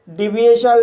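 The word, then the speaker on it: deviation: मापक य अंतर डेविएशन इस वर्ड में डी को डा पढ़ेंगे ई को ई पढ़ेंगे वी को व पढ़ेंगे आई को ई पढ़ेंगे ए को ए पढ़ेंगे और टी को श पढ़ेंगे और आईओ साइलेंट रहेगा एन को ना पढ़ेंगे इस तरह से इसे डिए शल पढ़ेंगे और डिए शल का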